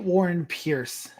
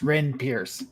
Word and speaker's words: Wren Pierce: hello yes and agent Warren Pierce played by Blue titty narrations evening everyone I mispronounced your name again it's Wren Pierce good Lord I think